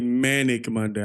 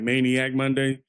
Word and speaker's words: Manic Monday: I'm sorry I pronounced that wrong. It's really manic Monday. I thought sometimes like when you see certain words you get it associated. So I was like maniac Monday.